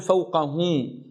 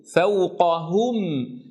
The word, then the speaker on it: فوقهم: أسمعها كثيرا ممن يقرأ يجعل في الهاء غنة فيقول فوقهم والأصل أن ينطقها فوقهم هم. تأملوا هذا الصوت، الهاء لا يوجد فيها غنة أبدا، فإذا ما انتقلت إلى الميم فالغنة في مخرجها.